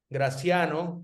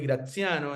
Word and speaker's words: Graciano: a Graciano celular así como se lo pronuncio Graciano en español y Graciano enl en italiano me entiende en italiano